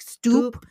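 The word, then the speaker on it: Stuppe: And actually, even in this particular pamphlet, his name is spelled S-T-U-P-P-E. So it's more like Stoop.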